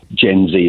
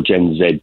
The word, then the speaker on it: Gen Z: the UK Workforce is Gen Z or gen Zed depending on your pronunciation and that's going to